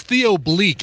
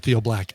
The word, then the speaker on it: Theo Bleak: That was Theo Bleak. I think I I said it right the first couple times and then right before we cut to the song, I said Theo Black.